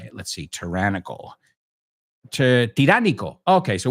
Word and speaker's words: tiránico: Tiránico. Okay, so we say tyrannical, and you say con una O, tiránico. Okay?